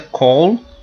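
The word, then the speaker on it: כל: Lembrando que essa palavra se pronuncia call.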